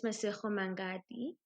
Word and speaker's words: Masego Mangadi: But I've got Miss Masego Mangadi.